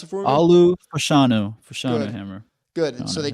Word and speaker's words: Olu Fashanu: Pronounce it for me. Olu Fashanu Good.